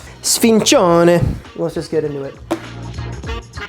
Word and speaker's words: sfincione: Sfizione. How do you pronounce that? Sfincione.